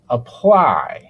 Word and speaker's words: apply: Now let's look at the word apply. Apply. For this word, the stress is on the second syllable. So the vowel sound in the first syllable for the a sounds very different.